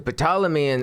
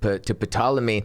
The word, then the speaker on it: Ptolemy: So when he goes to Ptolemy or Ptolemy, whatever. Yeah, I forget. There's a silent P maybe. a but silent P, yeah.